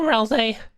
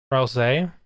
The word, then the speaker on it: Ralsei: Ralsei. Japanese confirms the say pronunciation. Ralsei. Oh, it's an anagram of Azrael.